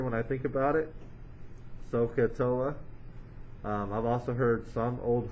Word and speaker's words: SOHCAHTOA: most people like to think of this as so ka toa so if you were to spell that out would be so fella and so that's what i remember when i think about it sohcahtoa i've also heard some old horse caught another